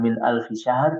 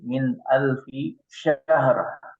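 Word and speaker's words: من ألف شهر: Shinnya juga lebih lekoh lagi ya. Lebih fasih lagi bisa insyaallah ya. Bukan min alfi syahr tapi min alfi syahr.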